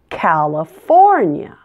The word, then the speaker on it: California: as a schwa sound it's not Callie it's Cal uh California and the ending is a